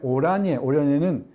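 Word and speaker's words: Oranje: 그래서 1902년에 트란스발 공화국, 그 다음에 오라니에는 오렌지의 네덜란드식 발음입니다.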